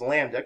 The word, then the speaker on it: lambda: with this greek letter lambda that's how we pronounce this as lambda kind of looks like an upside down y